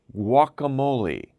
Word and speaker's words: guacamole: let me help you it's wakka moly walk ah moly guacamole guacamole what is guacamole well